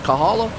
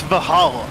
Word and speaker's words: Valhalla: I said it right is it Kahala it's Valhalla oh okay appreciate it